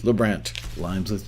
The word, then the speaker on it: LeBrant: signings, placements, and income with Keith LeBrant. Rhymes with Lou Grant.